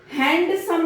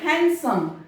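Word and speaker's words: handsome: हैंडसम नहीं बोला जाएगा, हैंडसम, यहाँ पर डी साइलेंट होगा।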